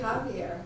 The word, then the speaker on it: Javier: We say Javier, so. I've been spelling your name wrong this whole time, who knew?